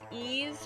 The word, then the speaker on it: Ys: money money money it's actually pronounced ease from the french legend of the mythical site okay yeah i know